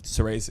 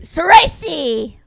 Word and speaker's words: Socci: Soresi. Soresi.